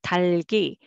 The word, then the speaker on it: 달기: So 달기, 달기.